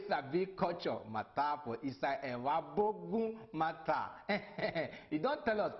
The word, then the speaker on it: Evbuogun: The name for Evbuogun, that one no be the correct name. Evbuogun na it be the correct name wey dem dey pronounce.